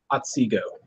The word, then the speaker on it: Otsego: Brother Tweedie was raised September 2016 in Otsego Lodge. I pronounce that right? Otsego.